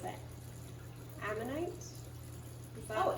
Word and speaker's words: ammonite: And a few months later, she sends it to me, and she had found, I don't know how to pronounce it, ammonite? Is that- Oh, ammonite, the nautilus?